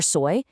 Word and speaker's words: soy: For soy, just think of the English word soy, like in soy sauce, because trust me, you're going to put this verb on absolutely everything.